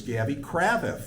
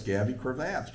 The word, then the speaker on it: Gavy Cravath: started this, I didn't I thought I knew how to pronounce his name. It was Gabby Kravath, and she corrected me. No, it's Gabby Cravath.